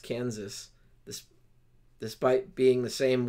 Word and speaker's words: Kansas: stuck thus would provide we pronounce the last s in Kansas but not in Arkansas okay who had the